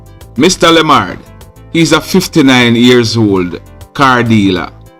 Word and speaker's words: Lemard: charged a man his name is mr stedman limard limard is spelt l e m mr lamard he's a 59-years-old car dealer and he live